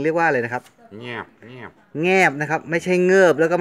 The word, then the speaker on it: แงบ: ต้อง ด้วย นะ ครับ ไม่ ใช่ เงิบ แล้ว ก็ ไม่ ใช่ งาบ นะ แงบ งอ งู นะ ง ง งู ออก เสียง ขึ้น จมูก นิด นึง ง งู ง งู